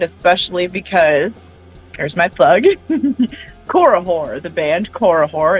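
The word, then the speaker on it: Korihor: a little terrified especially because there's my plug korahore the band korahore it's spelled k-o-r-i-h-o-r they're dope as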